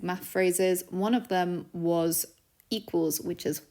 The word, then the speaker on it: は: learned some basic math phrases one of them was equals which is W this one is also pronounced wa even though it uses the haana